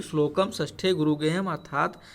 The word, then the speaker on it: श्लोक: तो श्लोके षष्ठम गुरु गेयम, इसमें बताया गया है कि श्लोक इसको बोलते हैं, कुछ लोग श्लोक बोलते हैं, गलत उच्चारण है, इसका उच्चारण होता है श्लोक।